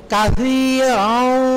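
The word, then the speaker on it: كثيرا: আল্লাহুম্মা ইন্নী যালামতু নাফসি যুলমান কাসীরান ওয়া লা ইয়াগফিরুয যুনুবা কাশি, কাশি হবে, কাশি, সাটা একটু জিহ্বার আগাটা বের করে দিবেন, সা, কাসীরান ওয়া লা ইয়াগফিরুয যুনুবা।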